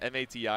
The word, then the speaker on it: MATI: I think the knowledge check there is that the MATI is pronounced like Machi.